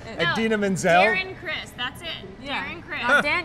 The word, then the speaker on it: Darren Criss: She mispronounced the name. Darren Criss. She said Daniel Criss.